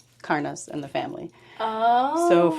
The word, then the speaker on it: Karna: So in Danish, you'd pronounce it Karna. Karna. But most people over here say Karna.